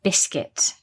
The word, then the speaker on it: biscuit: Yes, so the word biscuit, be careful of the pronunciation. We don't pronounce it biscuit, it's just biscuit.